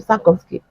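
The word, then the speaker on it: Sarkozy: decades now even with sakovki yeah that's the pronunciation of his name sakovki even with him and even with um the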